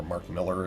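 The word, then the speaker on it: Mark Millar: Um there's a particularly good run by Mark Malar or Mark Miller as it's supposed to be pronounced.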